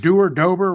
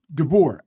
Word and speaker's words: DeBoer: Man, you think, okay, how you pronounce Dober, whatever his name is? DeBoer.